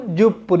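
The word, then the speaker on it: 十分: আমরা জানি জুর সাথে হয় পুন, ওই যে মিনিট যখন আমরা শিখছিলাম ইপুন রপুন হাপুন জুপুন, ইপুন মানে 1 মিনিট, রপুন 6 মিনিট, হাপুন 8 মিনিট, জুপুন 10 মিনিট।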